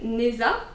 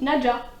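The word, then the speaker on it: Nezha: un personnage qui s'appelle, moi je prononçais Neza, donc c'est N-E-Z-H-A. Oui. Et vu qu'en fait c'est une prononciation chinoise, il y a l'autrice qui avait fait un TikTok pour expliquer comment on prononçait les noms et ça se dit Naja.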